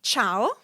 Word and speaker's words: ciao: So if the C is placed before I or E, it's pronounced as ch like church in English. An Italian example or two would be ciao.